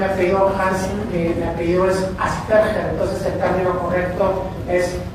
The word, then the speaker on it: Asperger: La pronunciación es Asperger, porque Hans Asperger era alemán, entonces la pronunciación no es Asperger, no es Aspi, no es nada, es Asperger.